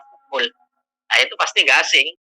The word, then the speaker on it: Foucault: Pucaul tulisannya bacanya pukul.